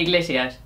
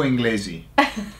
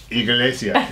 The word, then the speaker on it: Iglesias: we called him Julio Inglesi. Why? Because we didn't know how to pronounce Iglesias, no? And so you just put an N. I just put an N and say Z.